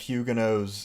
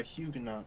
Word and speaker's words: Huguenot: American pronunciation is Huguenot, so I generally go with that. But oh, the British and Huguenot, I think, is the right way to go with it. But I stand by Huguenot.